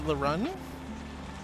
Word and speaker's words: LeRune: But I just see L-E and then R-U-N-E, so I say Laroon. Laroon. Laroon says either way works, but even writing Laroon, the E is silent. So is it Larun? Or Larun?